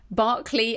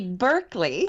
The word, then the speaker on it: Berkeley: And I just want to start, Rachel, have I pronounced Berkeley and draft in the right way? Well, no, it would be Berkeley.